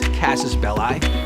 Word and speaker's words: casus belli: In the film that bears his name, what is John Wick's casus belli? Hostages, money, or puppy? Casus belli or belli, depending if you use the Catholic pronunciation of Latin or the Roman.